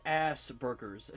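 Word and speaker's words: Asperger's: So, I thought I would get in trouble if I said Asberers. Well, it is pronounced assberers.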